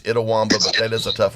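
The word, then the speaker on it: Itawamba: Rivers Classic with wins over Trinity Valley and Idaw Womba. Am I pronouncing that correct? Actually it's Idawwamba but that is a tough one to pronounce.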